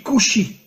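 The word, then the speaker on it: כושי: En hébreu, le mot noir se dit kushi. Alors bien sûr, vous ne connaissez pas l'hébreu, mais faites-moi confiance. Le mot kushi s'écrit en hébreu kaf vav shin yud.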